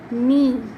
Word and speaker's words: knee: Knee, in spelling of knee there is K, but we don't pronounce K. We just say knee.